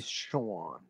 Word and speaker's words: Sean: like we would just read that we would pronounce that as s s yeah Sean well I mean s e a n that's